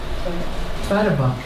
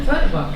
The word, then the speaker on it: Tveraabak: Tveraabak. She's telling me how to pronounce her name. Tveraabak, yes.